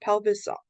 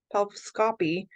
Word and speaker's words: pelviscopy: uterus this last one notice how this is pronounced okay pulviscopy there's a little bit more emphasis here in the middle valvoscopy no it's not pelvis saw pelviscopy it's not scoppy okay so it's also